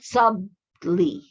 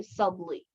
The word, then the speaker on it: subtly: Subtle, but subtly. Okay, it's a silent T. Okay, subtle. Pag TLE siya, subtle. But pag kuan na siya, mag-add na siya LY, subtly. Okay, mas silent T na siya.